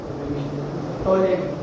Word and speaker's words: Ptolemy: टोलेमी नहीं पढ़ना, उसका स्पेलिंग है टोलेमी, PTOLEMY, टोलेमी।